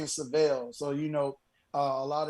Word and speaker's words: Syvelle: called the seville yeah and my name is savelle so you know a lot of times you know the pronunciation of my name was always mixed up